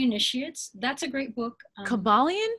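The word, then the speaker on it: Kybalion: famous book um okay and then yeah the caballon by the three initiates that's a great book caballian how do you spell that yes k-y-b-a-l-i-o-n okay and and that's a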